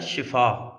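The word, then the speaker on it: شفا: देखने में आई है कि शीन के नीचे अगर जेर हो तो उसका मानी होता है सेहत तंदुरुस्ती और शीन पर अगर जबर हो तो उसका मानी होता है तबाही या मौत यानी अगर हम किसी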